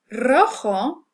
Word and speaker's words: rojo: We have rojo and restaurante. Okay, notice that these begin with an R. It's written as a single R, but we pronounce it as a trill because it starts off the word.